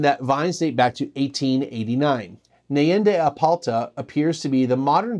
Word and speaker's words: Apalta: regenerative organic and biodynamic Winery in aalta not alala but apalta because that's also another one of those words that I mess up all the time they also mentioned that VIN Dat Back to 1889 nende apalta appears to be the modern version of what